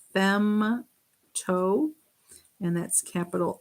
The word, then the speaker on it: femto: the way negative 15 this one is femto starts with an f fem toe and that's capital f